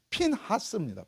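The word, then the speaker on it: פינחס: 원래 이 비나스라는 이 히브리어 정확한 발음은요, 핀하스입니다.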